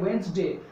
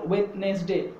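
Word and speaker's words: Wednesday: এবং উচ্চারণটা হবে ওয়েন্সডে, উচ্চারণটা হবে ওয়েন্সডে, সো the exact pronunciation is ওয়েন্সডে অ্যান্ড নট ওয়েডনেসডে, বাট I know that maximum number of people they pronounce it ইন the wrong way, তারা এটা ভুলভাবে উচ্চারণ করে, তাহলে অ্যাকচুয়াল প্রোনাউন্সিয়েশনটা হবে ওয়েন্সডে নট ওয়েডনেসডে, কিন্তু আমরা বেশিরভাগ মানুষ এটাকে ওয়েডনেসডে বলি।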